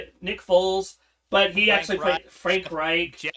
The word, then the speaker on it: Frank Reich: I mean, we've seen it with uh Frank Wright. Nick Fos, but he actually Frank Reich.